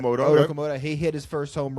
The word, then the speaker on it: Okamoto: which is just, I mean, so the rookies, Okamoto, I believe is how you pronounce Okamoto.